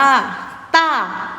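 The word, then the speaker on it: 大: เติม บวก สละ อา เสียง ที่ 4 คือ เสียง โทร เติม อากาศ อา แล้ว ก็ นับ เสียง 4 ต๋า ต่าง ต้า ถูก ต้อง คำ นี้ อ่าน ว่า ต้าร์ แปล ว่า ผู้ ใหญ่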